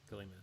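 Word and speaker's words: Ghiliman: How do you pronounce his name? Gillyman. G-H-I-L-I. Gillyman.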